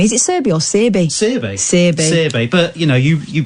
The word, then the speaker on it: Searby: Searby. But, you know, you pronounce it quite poshly, so I'll go with that.